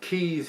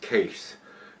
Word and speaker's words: Kees: But if you've had this one from brewery, it says Keys here, but it's pronounced Case, according to what Marcel was telling me.